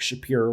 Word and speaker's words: Shapiro: He is not Mark Shapiro or Shapiro. I got to figure out how to say his name properly. Shapiro. It's Shapiro. Yep.